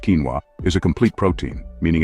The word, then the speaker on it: quinoa: Number 4, quinoa, pronounced quinoa, is a complete protein,